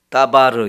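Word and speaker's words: דבר: 미드바르 아고 합니다 미드바르 그런데 하나님의 말씀은 다바르 이렇게 말해요 따바 따바 그라고 하는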